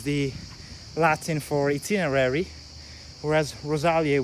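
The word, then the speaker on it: Rosaliae: So this is basically Latin, and of course itinerarium is the Latin for itinerary, whereas Rosalia with that diphthong AE, it's pronounced E in ancient Latin.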